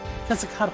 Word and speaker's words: Quetzalcoatl: Quetzalcoatl, thank you. You know, I never been able to pronounce that when I was a kid.